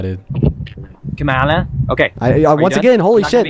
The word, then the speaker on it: Kamala: I understand that Republicans can't pronounce words, but it's pronounced Kamala, dude. Kamala.